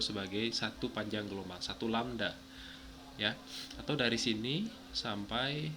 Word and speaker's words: lambda: Ini dibaca lambda ya. Nah, ini dibaca lambda. Lambda. Nah, ini dibacanya lambda gitu.